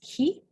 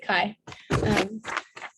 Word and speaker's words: chi: I believe I just saw online that it was supposed to be pronounced ki, but we pronounce it chi.